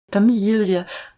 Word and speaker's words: Familie: Familie The ie is like e in see.